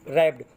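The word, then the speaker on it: wrap: हुई थी, dead स्टिप रैप्ड, वो कठोर, स्टिप माने कठोरता के, दृढ़ता कठोरता के साथ, रैप्ड बच्चों, रैप ये डब्ल्यू साइलेंट रहेगा, रैप पढ़ेंगे, रैप माने लपेटना, लपेटी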